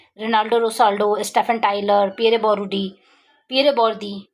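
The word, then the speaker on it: Bourdieu: Rinaldo रोसाल्डो, Stephen Tyler, Pierre बोरूडी, Pierre बोर्दी, बोर्दी pronounce करते हैं, बोरुडी लिखा हुआ है. So what ever you can pronounce according to your convenience you can pronounce.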